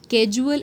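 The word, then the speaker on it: casual: नाउ कैजुअल एंड कॉजल. कैजुअल में आपका S और U का है, S आगे है फिर कहीं U पीछे, तो आपकी प्रोनाउंसिएशन अगेन इंपॉर्टेंट हो जाती है.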